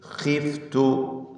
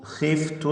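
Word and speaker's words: خِفْتُ: വഇന്നീ ഖിഫ്തുൽ മവാലി വഇന്നീ, ഈ പദത്തിലെ നൂൻ മുഷദ്ദദ, ശ്രദ്ധ നൽകപ്പെട്ട നൂനിനെ ഉന്നത്ത് ചെയ്ത് 2 ഹറക്കത്തിൻ്റെ അളവിൽ മണിച്ചുകൊണ്ട് ഉച്ചരിക്കേണ്ടതാണ്. വഇന്നീ ഖിഫ്തു, ഖിഫ്തു എന്ന പദത്തിലെ ഖാഇന് തഫ്ഖീം ചെയ്യണം.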